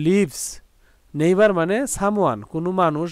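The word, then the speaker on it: neighbour: তারপরে দেখো নেইবার, নেইবার এন ই আই জি এইচ, এই পর্যন্ত উচ্চারণ হলো নেই, আর বি ও ইউ আর বার, নেইবার, কিন্তু এটা আমাদের ব্রিটিশ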